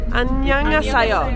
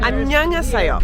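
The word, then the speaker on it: 안녕하세요: Annyeonghaseyo. Annyeonghaseyo.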